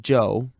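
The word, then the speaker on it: Chou: "Spell it C-H-O-U if you want to be exotic. It's still pronounced Joe, and that's his name.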